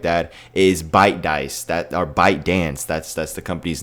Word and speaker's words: ByteDance: Or if the ByteDance, I'm just gonna say ByteDance, I think that's how I say it. It's spelled weird. It's like B-Y-T-E dance.